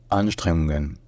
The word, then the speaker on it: Anstrengungen: La première, c'est l'accent tonique. En fait, il y a l'accent tonique principal, premier, qui est sur la première syllabe, sur le an. Et il y a un accent tonique secondaire, qui est sur la deuxième syllabe, sur le streng. Donc ça devient Anstrengungen.